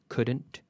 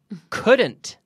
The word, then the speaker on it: couldn't: wood wood so wouldn't couldn't shouldn't okay in all these cases the L is silent okay okay so repeat with me at home wouldn't wouldn't we be in in Bethesda couldn't couldn't and shouldn't Isabel shouldn't